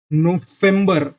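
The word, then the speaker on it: November: तो इधर नवंबर, इधर वी का प्रोनाउंसिएशन एफ की तरह हो रहा है, तो इधर नवंबर, दिसंबर।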